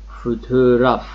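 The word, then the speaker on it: fotoğraf: اینجا دقت کنید چی گفتم، فوتوگراف فوتوگراف فوتوگراف عکس، یعنی تلفظ نمیشه، یک حالت باره، مثل این میمونه که شما داخل یه سراشیبی قرار گرفتید بیاید بالا.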